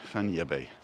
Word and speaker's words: Fañabé: it is a cinematic because there's a little tilde on the n and an accent on the e so you pronounce it like san francisco bay fannie bae this is the back